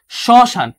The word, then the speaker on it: শ্মশান: শ্মশানের ক্ষেত্রে হচ্ছে প্রথম শয়ের সাথে ম যুক্ত হয়, এটা হচ্ছে সযোগ ম, এটা হচ্ছে সযোগ ম। শ্মশান, শ্মশান, ঠিক আছে, আমি বানানো পড়েছিলাম শ্মশান।